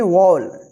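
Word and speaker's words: wall: यानी जब किसी वर्ड में ए के बाद लास्ट में डबल एल रहता है तो ए का जो उच्चारण होगा औ उच्चारण होगा।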